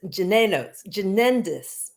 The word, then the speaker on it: Jynneos: So the number one vaccine in the US and worldwide is called, I'm going to pronounce this Jynneos. Oh, I hope that's right. It's Jynneos.